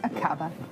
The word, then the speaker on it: Aqaba: Is that how you would pronounce it? Yes, Aqaba.